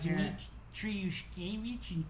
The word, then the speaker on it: Dmitry Yushkevich: Give it to me in syllables. How do you say it slowly? He goes, Dmitry Yushkevich.